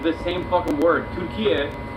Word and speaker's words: Türkiye: Türkiye is how you say turkey in Turkish, and it has nothing to do with the bird turkeys, actual animal turkey at all.